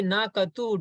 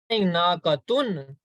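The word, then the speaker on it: ناقةُ: Naqatu, when I say naqatu, do you hear noon sound at the end? No, not at the end. I'm not saying naqatun, right? Yes. I'm saying naqatu. So there is no noon sound.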